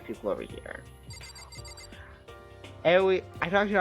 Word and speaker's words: Aoi: Aoi, I don't know how to pronounce her first name, but. Heya! I'm Aoi. Oh, Aoi.